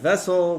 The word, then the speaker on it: VSSL: It's pronounced vessel.